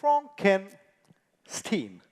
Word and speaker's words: Frankenstein: My name is pronounced Frankenstein.